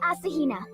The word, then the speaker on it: Asahina: you go ahead and tell me how you pronounce that I'm Asahina but my friends just call me your